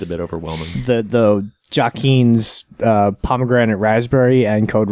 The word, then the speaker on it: Joaquin: I don't give a about pronunciation okay was it joaquin's yeah yes it's Joaquin Phoenix yeah his brother's